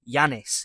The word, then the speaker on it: Yanez: But on a real I am going to go with John Anel because Yanez even because Yanez it's John Yanez.